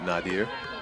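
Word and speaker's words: Nadire: She pronounced it Nadir. Even it's spelled N-A-D-I-R-E.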